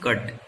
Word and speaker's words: cut: Both of these words have U in mid of these words, but pronunciation is different. As in first one it is pull, and in the last one it is cut.